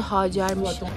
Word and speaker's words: Hacer: Bu arada Hacer isminin doğru telaffuzu Hacer'miş. Yok gerçekten Dükler Sarayı değilmiş.